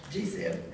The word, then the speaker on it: GSIB: global systemically important banks when gsib pronounced gzip when any mega bank